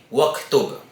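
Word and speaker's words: واكتب: So, kahit meron po siyang ad-damma, ang tamang pagbigkas pa din po ay waktub.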